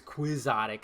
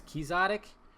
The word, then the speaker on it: quixotic: It's not like a. It's not. It doesn't make a K sound.